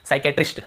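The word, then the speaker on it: psychiatrist: Psychology से हम क्या पढ़ते हैं, साइकोलॉजी, ठीक है, साइक्रेटिक सॉरी साइकेट्रिस्ट, ठीक है साइक्रेटिस्ट।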